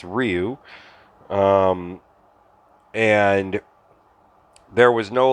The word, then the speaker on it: Ryu: And then you have Ryu and Ken. Of course, back then they pronounced it Ryu, which is why so many people don't say it properly. It's Ryu.